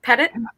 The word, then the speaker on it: Petit: Petit? Oh, actually, it rhymes with edit. So it's Petit.